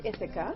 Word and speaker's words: Ithaca: It's pronounced Ithaca. Ithaca. Ithaca. It's a Greek island.